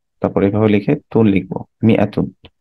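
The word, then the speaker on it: مائة: মিয়া, তারপরে এভাবে লিখে তুন লিখবো, মিয়াতুন। আচ্ছা, মিয়াতুন is written with an alif which is not pronounced.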